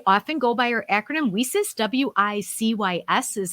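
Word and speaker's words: WiCyS: executive director we often go by our acronym we sis w-i-c-y-s is how we spell it and we pronounce it we sis like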